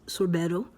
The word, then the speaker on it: sorbetto: And then for sorbet or sorbeta in Italian, however you say it, Italy, sorbetto. And it's actually pronounced sorbetto.